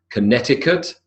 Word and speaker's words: Connecticut: The answers are Connecticut, Tucson, Greenwich, Cologne, Seoul, Delhi, and Norwich. So the C in Connecticut, for example, simply it's there, but it's not pronounced.